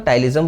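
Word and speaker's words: ptyalism: हैं टाइलिज्म ठीक है इसमें पी साइलेंट होगा तो टाइलिज्म बोलेंगे या फिर जो है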